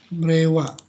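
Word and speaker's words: 令和: Jadi kalau Reikaju ya, jangan. Berarti ini salah bacanya ya. Yang betul adalah Rewa, kanji yang terbaru.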